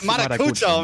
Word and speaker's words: Marucho: It was It was I mispronounced your name the first day a little bit, but now it's Marucho, man. Marucho.